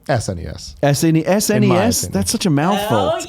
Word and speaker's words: SNES: What's the correct way? SNES.